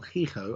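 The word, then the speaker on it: Hijo: about del fantasma el hico as in spanish for sal okay yes it's a j it's pronounced as an h because spanish doesn't really have j's let's move on because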